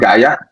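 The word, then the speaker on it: Gaea: So our real estate company is called Gaia. It's spelled as G-A-E-A.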